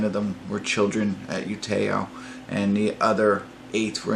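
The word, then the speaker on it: Utøya: wanted to say the island is you Te'o I believe is the way you pronounce it you Te'o and that's the island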